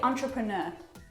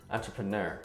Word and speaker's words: entrepreneur: Okay, so the main difference there is in this last couple of syllables. We say entrepreneur. Oh, really? Entrepreneur.